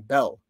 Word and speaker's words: Baal: of the Aramaans who borrowed the Babylonian pronunciation bell. That's Belle, the god bell.